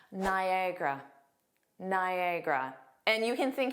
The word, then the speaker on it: Niagara: Nagra Niagara Niagara.